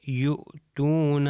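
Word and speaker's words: يؤتون: ہو جائے گا یؤتیہم۔ اگلی ایگزامپل میں یؤتون، آپ دیکھیے سب ایگزامپلس کے اندر جہاں پہ واو کے اوپر آتے ہیں او کی آواز آ رہی ہے، میں کر رہا ہوں یؤتون، یؤتیہم۔ اب یہاں پر جو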